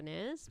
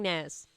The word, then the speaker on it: nares: Some people might argue on the pronunciation of that, where it's nares or nares, but I'm saying nares.